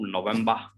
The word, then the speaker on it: November: Again, this one, but there is one issue, like normally, like we do not pronounce R. So November, you can say on November, both are correct.